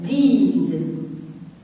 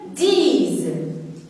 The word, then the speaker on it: disent: Il et elle disent. Et je vais revenir aux terminaisons E-N-T. Regardez ici aussi S, je la prononce comme Z parce qu'il est entre deux voyelles.